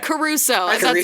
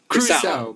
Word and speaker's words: Crusoe: Caruso. David Caruso. David Caruso. That was Wait, what is it actually? What should I say? Crusoe. Crusoe. Yeah, I did add a syllable.